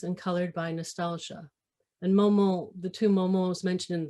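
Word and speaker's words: Maumont: And Momon, the two Momons mentioned in there, there was the old name, which is spelled M-O-M-O-N, and the new name, which is M-A-U-M-O-N-T.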